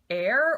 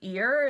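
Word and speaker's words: Eir: The colorway I have here is colorway number 3, which is air or ear. It's spelled E-I-R.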